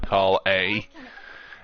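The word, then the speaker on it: Collei: I'm pretty sure your name's pronounced Kali instead of Call A.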